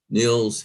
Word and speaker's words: Nils: first speaker is neil niels forgive me if i mispronounced your name no you did really well uh nils rhymes with mills superintendent kelly and trustees